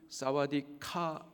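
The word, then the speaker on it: สวัสดีค่ะ: 사와디캅이라고 하고, 여성분들은 사와디카 이렇게 발음을 합니다.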